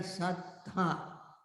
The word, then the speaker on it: sattha: They are not satta, but they are sattha, with emphasis on the last th, sattha.